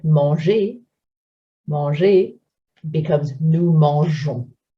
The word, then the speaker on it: mangeons: So verbs like manger, manger becomes nous mangeons. If we weren't to make those spelling changes, the pronunciation would be affected. We would have to say nous lançons, nous mangons.